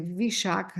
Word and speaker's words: Vishakha: Só que em vez de ser Vishaka, é Vaisakha, tem uma mudançazinha na pronúncia, porque adquire esse significado de mês, por ser mês, né?